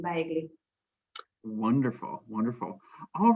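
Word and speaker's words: bejgli: And how do you pronounce the name of this? Baigli.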